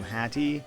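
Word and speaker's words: hati: in the Malay language when you pronounce what is written as Hathi in English it will come out very similar to Hattie which actually just means heart I tried looking for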